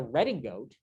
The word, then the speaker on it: redingote: And we call that a redingote. And it comes from the French mispronouncing riding coat.